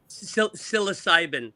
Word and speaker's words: psilocybin: IASA psychosin how do you say it psilocybin psilocybin psilocybin Psilocybin is the is the actual mushroom.